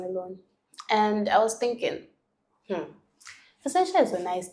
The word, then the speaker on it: Vincentia: they tend to say Vincentia. And I'm like, bro, no, even though there's an N there, it's Vincentia. The N is silent.